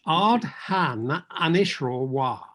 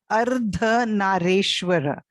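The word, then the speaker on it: Ardhanarishvara: One of them, to me, sounds like it's Ardhan Anishro. No, it is Ardha Nareshwara.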